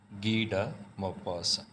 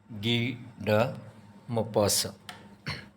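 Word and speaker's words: Guy de Maupassant: मस राइटर जो है उनका प्रोनंसिएशन काफी डिफरेंट है गड मोपासा उसकी क्या रीजन है number one spellings don't decide pronunciation second the writer is French फ्रांसीसी राइटर है तो फ्रेंच लैंग्वेज का अपना एक प्रोनंसिएशन होता है वंस अगेन टाइटल द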